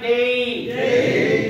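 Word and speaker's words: day: বলেন কি বলবেন তাহলে আজ থেকে ডে বলবেন না ডেই বলেন সে বলবেন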